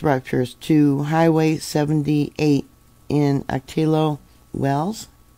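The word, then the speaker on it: Ocotillo: to Highway 78 in atillo Wells actually I think it's pronounced okao Wells Highway 78 so that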